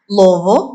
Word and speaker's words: Louisville: My father was a Rotarian in Louisville, Kentucky, Louisville, properly pronounced, which is where I'm from, in Shively, and he was the first African-American member of that Rotary Club.